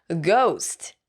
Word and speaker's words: ghost: ghost 발음할 때는 ghost라고 하면 안 돼요. 우 발음을 꼭 넣어줘야 돼요. ghost, ghost, ghost, ghost.